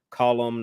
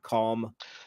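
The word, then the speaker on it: Colm: but yes yes in in Irish you pronounce that word column not calm oh that's right it's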